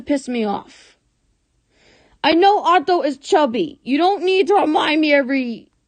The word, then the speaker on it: Otto: It's Otto, not Otto.